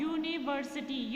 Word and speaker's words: university: Like here is यूनिवर्सिटी, सो a sound is not coming. Okay, although the spelling is starting with you बट the sound is not coming a sound. Okay, यहाँ पे you sound आ रहा है.